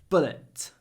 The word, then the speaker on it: bullet: bull bullet like um B is a bull bull the the uh is really short bull bullet bullet the stress comes from this before the B bullet this listen to the pause this bullet that really creates a sense of stress this bullet was removed